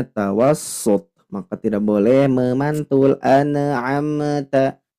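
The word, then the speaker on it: أنعمت: Nun dan mimnya tidak boleh dipantulkan, harus ditekan membacanya.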